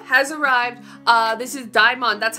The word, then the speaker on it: DXMON: it's Erica debut has arrived uh this is Dion That's how you do say it that's how you I have official official pronounced Dion okay so it's CU I saw somebody on Tik Tok call them demon so I didn't know if I was saying